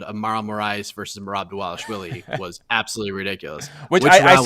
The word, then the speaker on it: Dvalishvili: Turn the V's into W's. Dvalishvili.